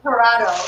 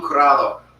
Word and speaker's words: curado: And then we have Mejón Parado. Am I saying that right? Mejón. This is Manchego. This is Petite Basque. And then this is, do you want to pronounce it for me? Mejón? Mahon Curado.